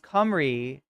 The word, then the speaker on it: Cymru: It's pronounced Cymru. Oh, it's Welsh. It's Cymru, not Cymru, like I mispronounced it.